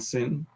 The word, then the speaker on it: Sin: left this one says sin sounds like an s once it has a vowel so what's the difference between the two shin and sin so the story that